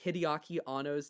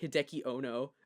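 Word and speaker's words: Hideaki Anno: Ava review and the guy reviewing it pronounced hideaki ano's name incorrectly he pronounced it Hideki Ono and I was just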